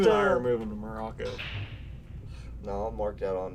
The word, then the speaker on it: Morocco: In fact, I like to pronounce it Morocco, because that's what us natives do. Moroconians. Think about it. It's like America, but Morocco.